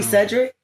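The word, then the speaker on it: Sedrick: Yeah, but you don't spell it like Cedric. S E D R I C K. That's crazy. I was actually lowball being funny. And it's really Cedric.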